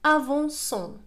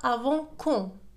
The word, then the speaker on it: avançons: إذا لاحظوا avançons. إذا تركنا سي كما هي سننطقها بالأحرى avant quand لأنها سي devant أو تنطق كو، إذا ستصبح avant quand.